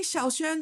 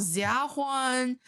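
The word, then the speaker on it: Xiaoxuan: all together okay yeah they might try to use a z sound they did I was called Juan uh xiaohuan uh whatever like oh Swan oh my God right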